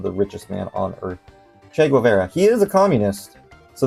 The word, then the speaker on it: Che Guevara: Pronounced Che Guevara. Cheat Guevara. Cheat Guevara. Cheat Guevara. Che Guevara.